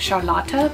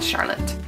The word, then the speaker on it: Charlotte: I did nanny for a little girl named Charlotta, but that's how you pronounce it in Germany. And in America, it would just be pronounced Charlotte.